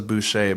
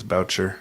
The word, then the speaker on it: Boucher: Joyce butcher voucher voucher I thought it was Boucher but I think it's about sure that's how they pronounce it in the documentary actually Joyce did question